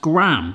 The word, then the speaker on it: graham: got that texture and it does say it's pronounced gram so i'm going to stick with gram or colin go with